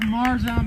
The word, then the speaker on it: Marjaan: It's spelled Marjaan, but it's pronounced Marjaan, like a mermaid, all right?